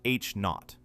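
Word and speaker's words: H₀: The key quantity is the Hubble constant, pronounced H-naught.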